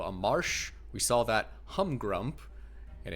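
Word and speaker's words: Humgrump: We saw that humrump. And I need to make sure I don't pronounce the P in there. that doesn't exist cuz I feel like I kept saying hump grump the first three videos.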